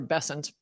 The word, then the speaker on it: Bessent: Um, it's funny that Bent said that because or Bessent, sorry for mispronouncing his name.